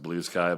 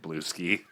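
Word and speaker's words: Bluesky: Intellectually, I know it's pronounced blue sky, but having been a furry for the majority of my life, I can't help but want to pronounce it blue ski.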